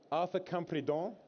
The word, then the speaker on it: Arthur Campredon: Arthur Campredon, did I pronounce that correctly?